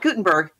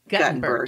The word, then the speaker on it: Guttenberg: Not Gutenberg. Guttenberg.